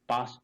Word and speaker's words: passed: So PASSED, it is not past, it is past. So PAST and PASSED both are having exactly same pronunciation.